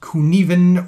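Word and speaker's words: Cynefin: I'm going to spend a little more time looking at the Kunivan model. It looks like Cinefin, but it's pronounced Kunivan or something similar to that.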